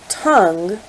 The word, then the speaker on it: tongue: in the fact that not only do we not voice the U we typically are not actually voicing the last letter e either in the case of the word tongue if we deleted the UE e the word would be Tong so the E actually serves to change the sound of the O moving on all of